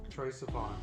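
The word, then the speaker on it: Troye Sivan: Troy Sivan, yes.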